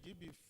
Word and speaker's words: GBIF: you know, GBIF, GBIF, is that the way? How do you pronounce it? GBIF. Oh, okay, GBIF, right.